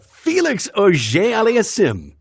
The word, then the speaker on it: Auger-Aliassime: All right, so French Canadian name, how would you pronounce? Felix, I have to work on the French part, but let's see. Auger Aliassime. Auger Aliassime. That's good. Oh, yes, my brother. Felix Auger-Aliassime.